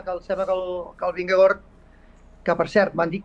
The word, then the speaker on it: Vingegaard: el sembla que el Vingegaard, que per cert m'han dit que s'ha de pronunciar Vingegaard. Vingegaard. Sí, no Vingegaard, sinó Vinge fa Ving i Gaard fa Gord.